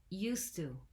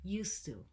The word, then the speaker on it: used to: first things first pronunciation it's used to used to we drop the d because the t sound is stronger and so it becomes a single word used to i recently filmed a